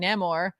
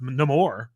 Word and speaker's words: Namor: Although honestly, I am enjoying Neymar. According to Chip Zdarsky, pronounced Namor.